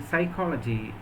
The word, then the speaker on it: psychology: real are not pronounced then in Psychology that P is not pronounced and in the word